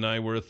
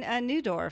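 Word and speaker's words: Neudorf: It's Brian You say his name wrong. You say it wrong yesterday. It's Brian Newdorf. Newdorf, that's right.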